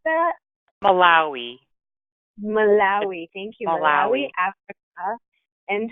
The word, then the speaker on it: Malawi: How do you pronounce that? Malawi. Malawi.